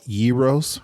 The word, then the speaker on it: gyro: And what I often have called gyros or gyros, he says, mix those two together. It's gyro. Gyro?